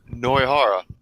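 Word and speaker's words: Nohara: Wait, is that really how her name's pronounced? Noihara.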